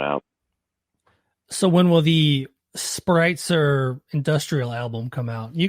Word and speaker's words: Spreitzer: before E, except after Spreitzer. So Well, in the German language, if you have an E and an I together, yeah, you pronounce the second one.